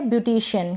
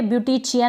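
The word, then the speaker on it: beautician: कुछ स्पेलिंग्स देखेंगे। जैसे कि ये है ब्यूटीिशियन।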